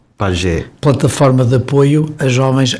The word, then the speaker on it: PAJE: PAGE. PAGE. Plataforma de Apoio a Jovens Ex-Acolhidos. Gostamos de pronunciar PAGE porque nos remete para as tribos da Amazónia, que o PAGE é aquele